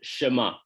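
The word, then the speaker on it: Shema: les appelait le schéma ça s'écrit a s h m a et on le prononce chemin alors il est considéré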